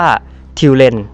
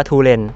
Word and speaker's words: Tulen: ของ ท่าน ทู เนี่ย จริง ๆ แล้ว ชื่อ ของ คาแรคเตอร์ นี้ ต้อง อ่าน ว่า ทิว เล่น นะ ครับ แต่ เนื่อง จาก คน ทั้ง ประเทศ อ่าน ว่า ทูเรน ผม ก็ อาจ จะ